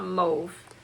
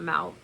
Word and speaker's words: mauve: Or I call it mauve. So that's an interesting thing I learned watching videos. I heard the word mauve pronounced mauve, not mouth, or however some people pronounce mauve.